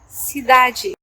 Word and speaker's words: cidade: For example, the word cidade, cidade, which means city, cidade. So the last D sounds like a G in English.